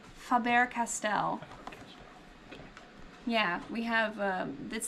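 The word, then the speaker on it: Faber-Castell: spun all around and and how do you pronounce the company's name Faber Castell yeah we have um this the line creative creativity for kids from fabber Castell um and that's what this whole line is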